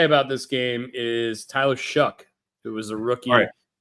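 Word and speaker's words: Shough: And what I will say about this game is Tyler Shuck, who was a rookie. How in the is his name spelled or pronounced Shuck? There's no K in it.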